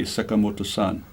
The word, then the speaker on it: Sakamoto: in the wrong way so I always introduce myself Sakamoto because it's almost impossible to for the westerners to pronounce but the right way in Japanese would would be to say sakamoto-san good now let's